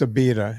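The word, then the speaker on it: Abita: No, it's a beta. A B I T A.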